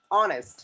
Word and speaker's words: honest: Next, honest, Honest. honest, honest. Sajid is an honest person. अनहा इज एन ऑनेस्ट person. So ऑनेस्ट के अंदर H silent होता है, तो वहां पे ऑनेस्ट